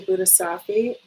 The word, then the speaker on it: Bodhisattva: She's a Bodhisattva.